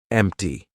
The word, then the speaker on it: empty: But if a T comes after any other consonant, a lot of times it's going to be pronounced as the true T. For example, actor, doctor, empty. Okay, so we're going to be using the true T sound in those words.